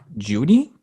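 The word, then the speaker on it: Jeudy: no yes okay Wow seedy lamb or Jerry judy is that how you say his name yeah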